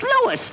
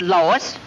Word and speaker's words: Louis: the plant lois lois my name is louis not lois chief whiz everybody in